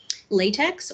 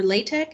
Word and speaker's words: LaTeX: in writing in um latex or latex is I've seen it pronounced both ways so she has used